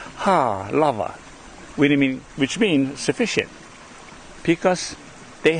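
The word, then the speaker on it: Halawa: And this is why here in this valley it is called, the way we pronounce it back those days with our kupuna is ha lava, which means sufficient, because they had everything that they needed.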